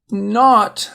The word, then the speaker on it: knot: Knot.